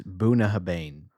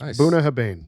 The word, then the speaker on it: Bunnahabhain: have an idea I I think it's it's buah haban buah haban okay that makes more sense buah haban nice bua I've never